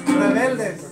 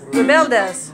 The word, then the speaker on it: Rebeldes: How the heck do you pronounce? Rebeldes. Rebeldes.